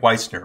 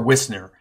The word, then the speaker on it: Wisner: was trying to think of there was Frank Wisner or Wisner, depending on how you like to pronounce his name.